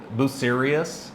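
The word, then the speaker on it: Bucerías: They're like Buserias, and I always think to myself, are you serious right now?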